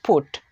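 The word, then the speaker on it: put: তবে এর দুই একটা ব্যতিক্রম আছে, যেমন এখানে দেখুন বি ইউটি বাট হচ্ছে কিন্তু পি ইউটি পাট হচ্ছে না, এটার উচ্চারণটা হবে ফুট।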